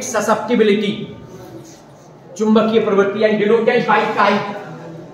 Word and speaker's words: chi: इसको अंग्रेजी में कहते हैं मैग्नेटिक ससेप्टिबिलिटी, चुंबकीय प्रवृत्ति, डिनोटेड बाय काई। अंग्रेजी में बोलते हैं सी, वैसे स्पेलिंग CHI, काई बोल देते हैं, और M लगा देते हैं तो मैग्नेटिक ससेप्टिबिलिटी, और E लगा देते हैं तो इलेक्ट्रिक ससेप्टिबिलिटी।